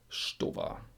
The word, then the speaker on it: Stowa: And this is a little bit wrong because the ST is pronounced SCH. Why? Why not? And not every time. Sometimes you say st, but in this example you say Stowa.